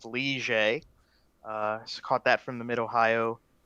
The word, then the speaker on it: Ligier: It's pronounced Ligier.